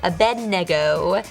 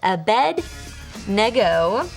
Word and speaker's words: Abednego: right no matter what Shadrach mesak and Abednego Abednego that's how you say it Abednego they showed great courage and if you guys